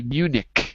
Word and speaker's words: Munich: that is an immune we don't say it like that we say munich in english ah munich ah okay